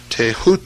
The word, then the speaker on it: Thoth: headed scribe of the gods Thoth pronounced taehu T the so-called Emerald